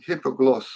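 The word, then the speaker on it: Hipoglós: it on amazon oh the accents on the last syllable hypogloss so we have so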